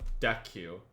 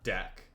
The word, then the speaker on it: deque: They told me it's not called a DECU. It's called a deck because DQ is a command and it's spelled differently.